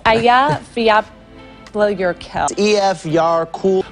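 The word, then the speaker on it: Eyjafjallajökull: It's Aya Fiapla Yurkel. EF Yar Cool. Aya Fetla Yakut. Am I pronouncing that correctly?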